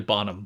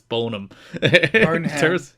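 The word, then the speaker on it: Boneham: had discussions with rert bonum of Survivor Fame and hopes of signing him to work it's probably Bonham but uh the E is there so I'm going to pronounce it it's bonum in hopes of signing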